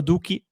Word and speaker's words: Doekhi: He is Danilo Duki. We've checked the pronunciation by the way before going live.